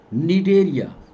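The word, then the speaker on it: Cnidaria: पहला नाम दिया गया निडेरिया, नी सी साइलेंट होता है, नी डेरिया, और दूसरा नाम दिया गया टीनोफोरा।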